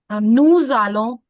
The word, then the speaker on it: nous allons: Can you hear the Z sound? Because according to the rule of liaison, जो एक rule होता है, that says कि when one word is ending from S and another word is starting from vowel, it can be any vowel. Vowel is A, E, I, O, U. ठीक है. अभी इस case में A है. So this will give the sound of za.